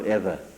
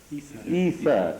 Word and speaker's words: ether: By either, do you pronounce it either or ether? Ether, E-T-H-E-R.